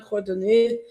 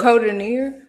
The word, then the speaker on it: Codorníu: Codorníu. Codorníu. Okay. So Codorníu. Codorníu. She's very heavy on that R.